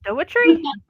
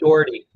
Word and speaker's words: Daughrity: Dougherty? Dougherty? How do I say it properly? It's just Daughrity.